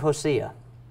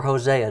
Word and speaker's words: Hosea: in the time of Hosea or Hosea depending on how you say it right God told him